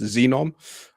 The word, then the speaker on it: Zenom: It's spelled ZENOM, but pronounced Xenom.